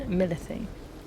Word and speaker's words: Milith: We're still missing one key representative on behalf of Molten Milithe. Milith is how they pronounced it.